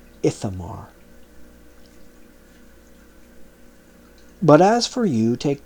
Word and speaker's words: Ithamar: But Eleazar and Ishamar he preserved for himself for an eternal covenant of priesthood. Sorry, that's pronounced Ithamar.